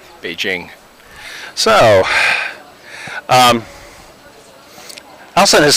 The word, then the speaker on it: Beijing: here in downtown Beijing, or excuse me, it's pronounced Beijing.